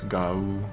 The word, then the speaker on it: Gau: It's Gau, basically, those sounds together.